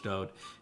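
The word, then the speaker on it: דוד: His name is Dod. For people that don't like it pronounced that way, that is the way that he wrote it in all of his own psalms.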